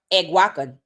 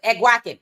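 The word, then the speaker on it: Eguakun: It said pronounced Euacan. Okay, good. Awaken.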